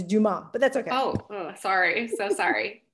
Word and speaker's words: Dumas: last name right well if you took french 101 you'd know it's do mom but that's okay oh